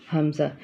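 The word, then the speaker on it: ہمزہ: इसी तरह हर्फ हमज़ा, हमज़ा ये भी हुरूफ हलकी का हर्फ है और ये भी हलक के ऊपर वाले हिस्से, सॉरी हलक के नीचे वाले हिस्से से इसको हम अदा करेंगे। Pronounced from the bottom of the throat.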